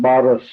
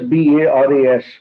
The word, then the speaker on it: Baras: Okay, it's a Marathi name, Baras. It is spelled as Baras.